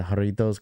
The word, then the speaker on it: Jarritos: to you Rafi for pronouncing the J J and the haritos correctly a lot there's a lot of people that know how to pronounce it which some people don't know how to roll their RS which is okay I've